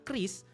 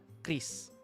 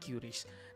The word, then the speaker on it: QRIS: Kalau Bank Indonesia sudah menyatakan cara pembacarannya adalah Kris, maka no debat juga bahwa pelafalan yang paling benar adalah Chris. Seperti itu, bukan curies.